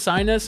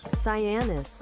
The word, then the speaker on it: Cyanis: Is it pronounced Sinus? I want to make sure I'm saying this right. Is this pronounced Sinus? Here we go. Let me type it in. Is this Sinus? Cyanis. Cyanis. Okay. Cyanis, not Sinus.